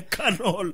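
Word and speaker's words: McConnell: ça c'est Mitch McDonald CONEL CONEL pas Donel mais c'est conal comment tu prononces canol canol on prononçant comme les américains canol mais c'est c'est voilà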